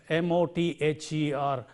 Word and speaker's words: mother: And also in a word like mother, M-O-T-H-E-R, mother, the, and father, the.